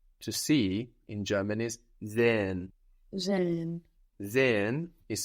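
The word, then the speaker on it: sehen: really slowly or emphatically you're not going to hear that H it's just an extension of the vowel but if somebody pronounces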